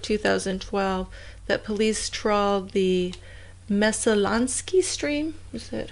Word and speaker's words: Messalonskee: I mean, it was like a year later, in October of 2012, that police trawled the Messalonskee stream.